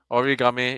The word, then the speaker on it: Origame: Uh, we're pronouncing it correct, right? It's not. It's Sure. Origame, I right? mean, origami is also acceptable.